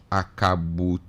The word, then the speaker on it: Akabutu: This one also says the name is Akabutu. You wrote Akabutu. It's A-K-A-B-U-T. So that's what I pronounce.